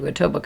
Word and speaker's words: Etobicoke: send mortgage stuff to Etobicoke all the time like a total Coke yeah it's got a K in it so I feel like